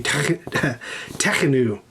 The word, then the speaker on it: Tekhenu: And this is oo, not you, oo. So you say Tekhenu. Is how you say that.